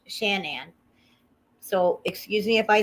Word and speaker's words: Shanann: no answer because um shannon i always want to call her shannon but it's shanann so excuse me if